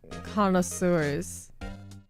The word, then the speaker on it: connoisseurs: Condosaurus? The word looks so much more complicated than it's actually pronounced. Connoisseurs. I believe that's how it'll be phonetically spelled.